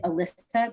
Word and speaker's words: Alyssa: Is that is it May? Is that how you say it? Could you? It's Yeah. actually, I'm going to switch it. It's actually Alyssa, but Oh, it's I Alyssa.